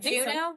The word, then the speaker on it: Juneau: Okay, Juneau.